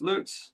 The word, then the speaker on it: Lutz: How do you say your name? Is it Lutz? Loots. Lutz. Yeah, correct.